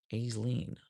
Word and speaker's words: Aisling: Pronounce pronounce the S long A. Aisling? Aisleen? Aisleen.